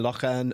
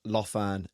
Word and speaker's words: Lough Erne: It should have been Lough Erne, not Lough Erne.